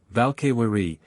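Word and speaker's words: Valkyrie: which Odin took the slain in battle valkyri valkari handmaidens of Odin v threer vair a giant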